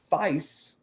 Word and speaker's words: Fice: you'll like this guy Matt fice it rhymes with ice nice thank you Susan